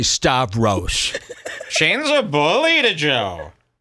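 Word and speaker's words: Stavros: right yeah yeah just say St just say star rose Shane's a bully to Joe just say star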